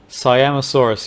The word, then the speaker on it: Siamosaurus: Siamosaurus, is that how you pronounce it? Siamosaurus, yep.